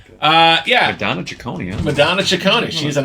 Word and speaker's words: Ciccone: Ciccone.